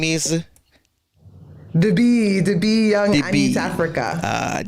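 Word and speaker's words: d'bi: The B Young Anitafrika. The B. Just want to make sure I have the right pronunciation.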